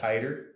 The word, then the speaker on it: Hidder: My name's spelled Hitter, pronounced Hider, just for the Oh, listeners.